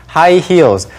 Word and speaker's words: heels: 신발들도 있죠 That's right There are high heels high heels 뭐 우리말로도 익숙한 표현이죠인데 발음이 좀 중요합니다 Right So the pronunciation is